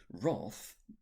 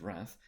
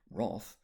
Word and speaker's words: wrath: It's not necessarily a sin, but wrath, often mispronounced as wrath, wrath is.